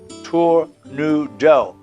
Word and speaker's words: tournedos: Glorious tornadoes from France a tornado is pronounced Tour New Dell a culinary term that